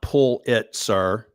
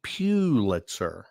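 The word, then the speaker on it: Pulitzer: It's not pull it sir. Pull it sir. That's what my priest used to tell me. It's pewitzer. Pew like church pew.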